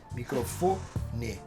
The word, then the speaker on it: microfone: Por exemplo, uma paroxítona já é a penúltima sílaba que tem essa tonalidade mais evidente, né? Então, por exemplo, a palavra microfone, né? A gente pode ver que ela não tem acento e tal, mas ela é microfone.